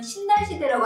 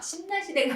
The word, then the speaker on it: 신라시대: 그래서 예를 들면 신라시대라고 안 하잖아요. 신라시대가 아니라 신라시대. 니은 다음 리을이 왔기 때문에 신라시대라고 얘기하고요.